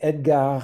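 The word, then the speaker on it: Edgard: about the composer so Edgar vares um he was French so you don't pronounce the d at the end of his first name he lived from the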